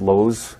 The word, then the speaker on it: Lowe's: long ago and huh no LS he said no he did not that's how you say it Lowe's I think I bought this he said it right L's he said Lowe's say it dark LS dude there's one L in the word not I know I